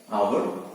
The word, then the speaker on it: hour: word our hour but here it is starting with the consonant letter h but we say n hour why an hour because it is and it is producing the sound at the beginning of our a e i o so here o sound is prominent hour okay so we